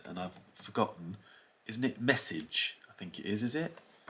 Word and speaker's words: messuage: Isn't it Messuage? I think it is it? Messuage. Let's listen to it. Messuage. Messuage. Messuage. Messuage. Yeah, Messuage. Messuage. Yeah, you'll hear me pronouncing that incorrectly as well.